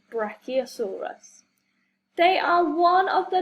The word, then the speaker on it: Brachiosaurus: Brachiosaurus. Say brach, E-O-saur-us. Brachiosaurus.